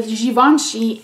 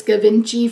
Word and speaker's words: Givenchy: little sample of the givenchy irresistible perfume i pronounced this gavinji for probably forever until someone corrected me which drives me crazy